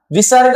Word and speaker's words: विसर्ग: और विसर्ग का जब हम उच्चारण करते हैं अर्थात बोलते हैं, तब बोलते समय ह या हकार की ध्वनि आती है।